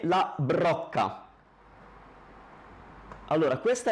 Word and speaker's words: brocca: Questa è una parola difficile, brocca, la brocca.